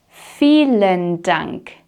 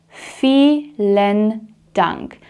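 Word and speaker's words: vielen Dank: an h sound or felen dunk. Fen dunk. So, something to note here is that the V in German is very often pronounced like an F sound unless we're talking about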